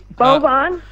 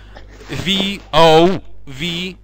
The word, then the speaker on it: Vovan: Oh, I see, but it's, how do you spell it, with a B? Vovan? V-O-V-A-N.